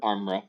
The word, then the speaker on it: Armra: Amra, is that how you pronounce it? Armra, yeah.